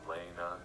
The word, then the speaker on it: Lena: I was met with this GitHub repository with a folder in it called Code from Lena, or Lena as it's pronounced.